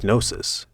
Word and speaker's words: gnosis: literal about the words the English word knowledge comes from the Greek nosis somehow we swap the silent G for a silent k which is every bit as stupid anyway there wasn't just